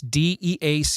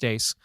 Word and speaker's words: Dea: That's d ace. It's spelled like d but it's pronounced dace.